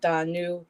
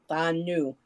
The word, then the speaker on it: Danu: Well, Americans pronounce it Danu, but traditionally it's pronounced Danu because the D is like a TH in this case. Danu. But either way is correct.